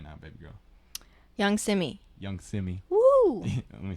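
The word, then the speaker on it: Yung Simmie: Young Simi. Young Simi. Woo! Let me spell it out for you guys because it's not Typical.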